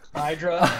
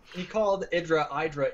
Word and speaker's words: IdrA: Hydra. All right, It seems like so many people call him Hydra. It's really tough. Yep. He actually called Idra in an interview with Idra, And Idra he said, didn't correct why'd you him.